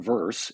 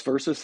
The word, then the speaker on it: versus: But when comparing things, saying verse is just wrong. Beware the curses of saying verse when you mean verses. This versus that. Two syllables are where it's at.